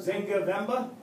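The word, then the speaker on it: Nzinga Mbemba: Take away the N and the M. Yeah. Just say Zinga. Zinga Vemba?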